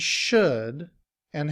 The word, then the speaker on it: shoulda: However, in reduced form, we combine the word should and have together. We drop the sound of V, and the sound A becomes as the schwa, which is pronounced And